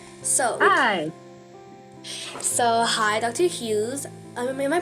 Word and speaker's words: Hughes: Hughes. Am I pronouncing it correctly? Dr. Hughes. Hughes.